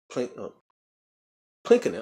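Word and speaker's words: Pylkkänen: Plinkinen.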